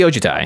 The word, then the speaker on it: Ojutai: largely oh to Thai yeah it's just mostly ojitai until the end there you got a wee